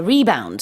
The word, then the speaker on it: rebound: When it's a verb, it's how do you say it? It's rebounded. It's rebounding. Yeah, Yes. but when the it's a numbers are noun- rebounding. Yeah, Right. but it's a rebound.